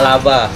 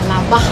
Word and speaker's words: labar: manuk laba. Tapi tulisannya pakai R Bu. Kenapa dibaca laba? Karena ejaan di sini bahasa daerahnya labar, R-nya tuh nggak di-R-kan, tapi K sama H, labah.